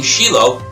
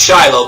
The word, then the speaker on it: Shiloh: To a story when I was visiting Shiloh. I know you think it's Shiloh, but in Hebrew it's pronounced Shiloh.